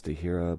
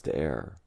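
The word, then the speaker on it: de Heere: The pronunciation I heard off the internet was Dehira, but I was told it's De'er.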